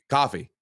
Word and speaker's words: Ko-Fi: Coffee. It's pronounced confusing. coffee. It's pronounced coffee.